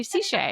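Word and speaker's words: Sechey: It sounds like sache, which you can say sache. You can say ciche. Yeah, it how whatever you want to say.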